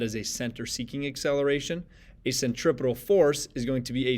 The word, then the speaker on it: centripetal: Note the spelling there, note how it's pronounced, centripetal force.